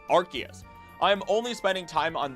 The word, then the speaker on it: Arceus: Because of this, despite the anime pronouncing Arceus, it is incredibly funny to consider the idea that the joke way of saying Arceus, Arcus, thanks to Zeus, is more correct than actually saying Arceus.